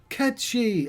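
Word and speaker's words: Cait Sith: I put is that the Keystone ketchy I've been told that's how you pronounce it as the Irish word it's a specifically an Irish fairy which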